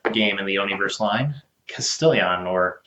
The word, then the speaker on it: Castellion: Well, today I'm here to bring you another game in the Oni-verse line, Castellion, or Castellion. It's spelled a little awkwardly, and it sounds actually